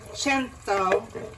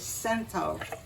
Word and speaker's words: Cento: We have my favorite tomatoes, CENTO, as they say in Italian, for 100. But what most Americans say is CENTO.